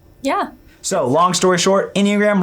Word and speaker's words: Enneagram: So, long story short, Enneagram rhymes with pentagram.